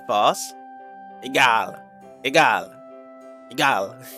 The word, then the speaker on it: Egal: Ah is in Germany A. Ah. Egal. Egal. Really? So you have to like stretch out your A like that?